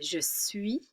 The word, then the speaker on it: suis: So we have je suis, don't pronounce the S.